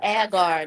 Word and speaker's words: agar: what's that hold on I think she mean agar agar yeah agar not yeah I said it wrong yeah that and what's